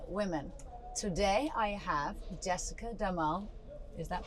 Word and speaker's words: Demol: Today I have Jessica Damal. Is that pronounced correctly?